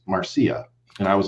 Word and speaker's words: Marcia: posted a video about marcia fudge i was pronouncing it marcia because it's okay a-r-c-i-a okay and and somebody corrected me and they said well actually it's pronounced marcia and i was like well